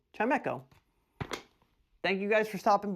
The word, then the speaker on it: Chimecho: Chimecho. Not Chimico. Chimecho.